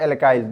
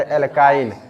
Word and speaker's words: एल्काइन: रहे हैं एल्कीन और एल्काइन इसका प्रोनाउंस सही से करना पड़ेगा नहीं तो गड़बड़ हो जाएगा एल्कीन और एल्काइन तो सबसे